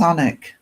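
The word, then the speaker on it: Alnwick: The name of my town is Anic. It's spelled A L. A L N W I C K because it's the river Alen that goes through it.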